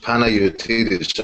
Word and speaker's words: Panayiotides: The name is pronounced Panayiotides, actually.